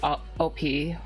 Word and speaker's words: OP: My name is pronounced like the letters OP, like overpowered, if that makes sense.